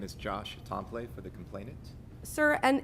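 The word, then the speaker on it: Templet: Tomplet? Is that how it's pronounced? It's poor French, Tompley. Tompley.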